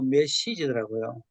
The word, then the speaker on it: 메시지: 메시지가 아니고 메시지더라고요. Вот посмотрел, что получается не месседж, не через «е», а через «и» надо произносить правильно.